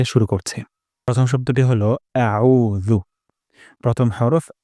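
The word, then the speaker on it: أعوذ: হবে এটা খুবই গুরুত্বপূর্ণ আমরা আইন উচ্চারণ করব গলার মাঝখান থেকে আউ আউ হামজার শব্দ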